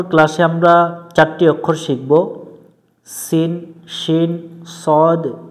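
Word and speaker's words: سين: শীষ দিয়ে পড়তে হয় সিন এভাবে উচ্চারণ করতে হবে শিন পড়া যাবে না অক্ষরটাতে কোন নাই এ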